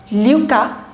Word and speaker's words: Lucas: LU is Lucas. Because S you're not going to pronounce.